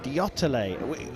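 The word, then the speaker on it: Deotale: India with Jyoti Sureka Venom and Oyas Pravin Diotale. It's taken us a little while to get the pronunciation of this 20-year-old Indian, but we have been told it is definitely Diotale.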